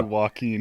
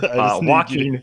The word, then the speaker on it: Joaquin: I really need you to say Joaquin. This is... Oh, Joaquin. Sorry. Whatever. Joaquin. Say it. Yeah. It's Joaquin, is it not?